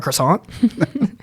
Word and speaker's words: croissant: The British pronounce it the French way.